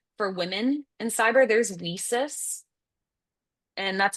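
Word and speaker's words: WiCyS: Um there's also for women in cyber there's weis and that's how you pronounce it. It looks like why sis but they wanted to be like we sisters do things together.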